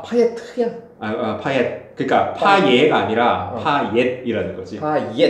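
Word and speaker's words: Payet: 그러니까 T를 발음을 한대. 아 파예트야? 파옛.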